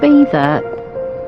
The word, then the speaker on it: Beddau: Double D is in Welsh, and it's Beddau, short, not Beddau.